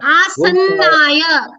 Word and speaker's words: आसन्नाय: आसनाय सुदूराय आसन्नाय double नकार अस्ति. अत्र उच्चारणं सम्यक् रीत्या करणीयमेव.